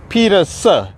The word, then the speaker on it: Peterson: Okay, the pronunciation is Peterson, with like Peterson without the N at the end.